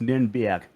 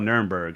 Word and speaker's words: Nürnberg: They'll tell you what Nuremberg is, but it's like in German it's pronounced Nürnberg. It Nambia. has that little fling to it, but it's called Nuremberg.